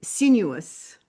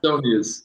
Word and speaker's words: Soonius: So today I'm speaking with Sinuous. is Almost. a, right? Did I say it right? Soonius. It's all good. Sounius.